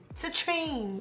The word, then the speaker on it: Citrine: No, I'm saying it wrong again. Citrine, there we go.